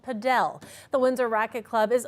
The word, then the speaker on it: padel: what you're looking at is a game of padell padell is one of the fastest growing racket